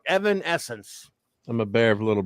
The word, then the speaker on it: Evanescence: boy thing all right Evanescence thank you Evanescence Alejandro's Evanescence that I get everyone's trying to help me pronounce it but Alejandro knocked it out of the park Evan Essence I'm a bear of